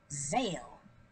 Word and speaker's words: Zale: So, this is Zale. One syllable.